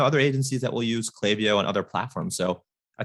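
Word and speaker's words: Klaviyo: with a link and he says it's officially pronounced clavio so okay sounds like that has been settled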